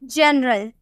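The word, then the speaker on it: general: ग में प्रोनाउंस किए लेकिन अगर हम बोले जनरल क्या हम बोले जनरल जी के बाद आपको ई नजर आ रहा है ना तो हम इसे प्रोनाउंस करेंगे जनरल हम बोलेंगे ज में प्रोनाउंस करेंगे ठीक है जनरल तो जब भी आपको जी के बाद ई नजर आया तो उसे ज में प्रोनाउंस कीजिएगा और एक एक दो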